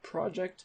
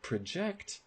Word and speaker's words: project: second one is project so a project has stress on the first syllable but project has stress on the second syllable so you would never